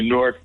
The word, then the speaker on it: Norc: New Jersey so say norc I don't have to qualify it plus people in New Jersey know that norc is a one syllable word not a two- syllable word yeah like fork or cork uh and uh in